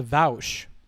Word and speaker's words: Vaush: was the joke uh it's pronounced vowsh and based means high